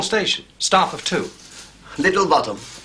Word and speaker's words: Botham: spelled both them and it's pronounced bottom I've just told him